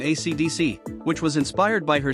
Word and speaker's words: AC/DC: AC/DC is supposed to be pronounced one letter at a time, but reportedly people in Australia call it Akadaka.